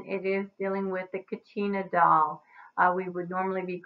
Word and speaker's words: Kachina: a drawing of your Kachina doll alright y'all sound questions and all that kind of stuff too so let's go ahead and go through this first slide alright your Katrina is pronounced Kachina and they are hand